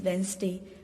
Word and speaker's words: Wednesday: Children, the correct pronunciation of this Wednesday is Wednesday, okay, because D is here silent.